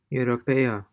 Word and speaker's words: europeo: Europeo, Europeo.